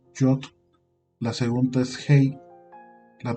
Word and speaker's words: Yod: Como ven aquí, la primera letra se le llama Yod, ¿sale? O se pronuncia como Yod.